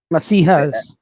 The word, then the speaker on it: Messiah: Masihas. Messiahs. Masihas. Messiahs. Okay. Hare Krishna. It is Messiah. E, but it is pronounced as Masiha.